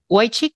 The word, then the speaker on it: Wojcik: Mr. Wojcik, is that the correct pronunciation? Yes, Senator. Thank you.